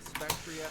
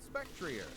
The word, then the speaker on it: Spectrier: According to Cerebi, though, they are officially pronounced Glastria, Spectria, and Calyrex. But according to the latest Pokemon Presents in August 2023, the ghost horse is called Spectrier.